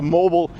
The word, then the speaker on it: mobile: your teeth at the mobile dental clinic. So mobile and mobile, we pronounce it both ways. I'm not 100% sure why. That's just the way it is.